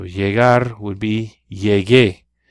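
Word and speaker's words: llegué: a god would be yay gay you gotta have that you in there to preserve the hard G sound giggle escuela I came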